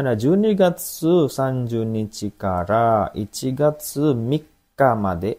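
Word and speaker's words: 三日: Oke, di sini ada Junigatsu Sanjunichi kara Ichigatsu Mika made. Tanggal 3 itu bacanya Mika ya.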